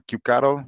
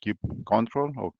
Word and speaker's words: kubectl: Para eso tenemos una, una aplicación o un binario que, que permite esa interacción, que se llama kubectl o kubecontrol, bueno, cada quien tiene su forma de pronunciarlo, y es un binario